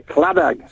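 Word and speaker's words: Claddagh: And the Clannad, it's not the Clannad at Sulby, it's the Claddag. You see. You emphasize the G at the end of it.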